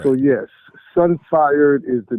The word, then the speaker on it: Sunfired: at the word and you pronounced it sun fried and then you took another second take because you know what you said was not what's written right what's written is sunfired MHM so the cuisine